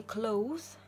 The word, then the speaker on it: cloth: Cloth, не cloth, а cloth, как вы видите, пишется C-L-O-T-H. Это либо скатерть, либо ткань, но это не одежда, потому что одежда пишется C-L-O-T-H-E-S, читается с дифтонгом O. Дифтонг – это когда в одной букве находятся два звука, если можно сказать так, находится одна буква, обозначает два звука – cloth.